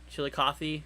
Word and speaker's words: Chillicothe: Proxy says, Andrew, you pronounced, let's see, Chillicothe right.